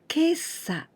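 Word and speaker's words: 今朝: This is exceptional way to pronounce. Kesa, kesa, it means this morning.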